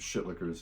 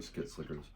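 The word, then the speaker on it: Shitlickers: Skit Slickers, however you want to pronounce it. Shit Lickers is correct, or Skit Slickers.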